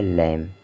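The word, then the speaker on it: lamb: और यम से हो गया मा हो गया लम ठीक है और जो एम सॉरी जो बी है बी का उच्चारण हमें नहीं करना है बी को नहीं पढ़ना है इसलिए बी यहां पर साइलेंट है लैम हो गया ठीक इसी तरह से लैम हो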